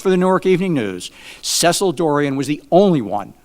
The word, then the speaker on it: Cecil: I think Cecil is how to correctly pronounce the name.